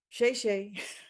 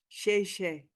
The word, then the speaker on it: 谢: Shay Shay. 嗯 You're So welcome. the only thing I know, right? And I don't even say it right. It's not, it's like 谢 Shay 谢，谢谢。 Shay, like that.